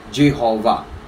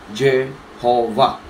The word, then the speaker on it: Jehovah: sa kanilang pagbigkas noon, kapag yung W ay gumitna sa isang salita, yung W na yun ay nagiging binibigkas ng V. Okay, wala tayong ganun ang talaga salita, may pabago-bago. According sa kanila, V.